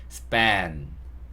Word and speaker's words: span: span.